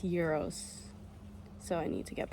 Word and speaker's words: gyros: Apparently it's pronounced gyros, so I need to get better at that.